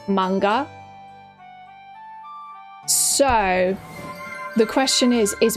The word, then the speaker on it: manga: The actual pronunciation in Japanese, granted I'm not a Japanese person and I don't speak Japanese very well, so take this with a grain of salt, is manga. I'm pretty sure manga.